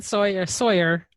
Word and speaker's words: Tsoir: actually wasn't that bad it's actually soy Sawyer so the tea is sort of Silent okay all right well